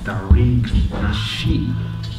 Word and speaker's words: Tariq Nasheed: We got a special guest, and he goes by the name of Tariq Nasheed. Yes, indeed. Am I pronouncing the name right? Yes, sir. You are definitely pronouncing it right.